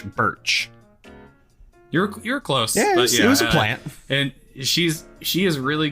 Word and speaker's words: Burch: they also listed Ashley Bush you know um and I have no idea if I'm getting her her last name wrong so I'm really sorry Ashley Burch Ashley Birch yes not Bush Birch and she's she is